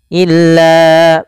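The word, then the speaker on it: إِلَّا: illa ayyamam ma'dudah illa panjangkan lanya sepanjang empat harakat karena ya ada bacaan mad jaiz munfasil yang di mana adanya mad thabi'i bertemu dengan hamzah atau adanya hamzah yang terletak setelah huruf mad di sini awalnya la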